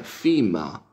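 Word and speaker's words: femur: este par, que es, en inglés se pronuncia fima, fima, fima, y que en inglés,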